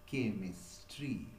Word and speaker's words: chemistry: The sound of CH, the pronunciation of CH is k, and therefore it is pronounced as chemistry. Okay, so the letter CH represent k sound in the word chemistry.